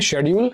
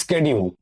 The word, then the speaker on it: schedule: Option A শিডিউল, শিডিউল মানে কি সময়সীমা, সময়সীমা বা তালিকা, তালিকা। দেখো SCHEDULE এটাকে ব্রিটিশরা ব্রিটিশ অ্যাকসেন্টে বলে শিডিউল, আর সেম জিনিসটাকে আমেরিকানরা বলে স্কেডিউল।